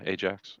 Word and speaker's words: Ajax: It looks like it's spelled Ajax. I know it's not pronounced that way though. Yeah, Ajax.